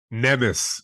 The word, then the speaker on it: Nemes: Pronounce your last name for me. Nemes.